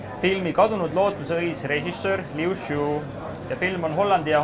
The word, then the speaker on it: Liu Shu: Did I pronounce it good? Yeah. Liu Shu. Yeah, Liu Shu.